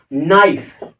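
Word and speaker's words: knife: जैसे एक होता है नाइफ। ये इसमें साइलेंट होता है।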